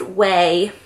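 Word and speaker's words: Quay: is the brand qay so it's pronounced way but it felt like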